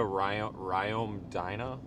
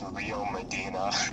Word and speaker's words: Rio Medina: I think it's Rio Medina.